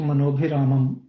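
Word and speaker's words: मनोऽभिरामम्: अभिरामम मनोभिराम वीत विश्व मनोभिरामम हाँ, विजित विश्व मनोभिरामम। अभिरामम। तो यहाँ पे जो बीच में ये जो आए हैं ना, एस लिखा हुआ है, हाँ इस एस का प्रोनाउंसिएशन नहीं होता है, ठीक है।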